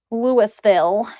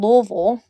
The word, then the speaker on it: Louisville: Louisville is what everybody else would say it. Louisville, but it's called Louisville is how you say it. Because us Kentuckians like to be all weird with our words.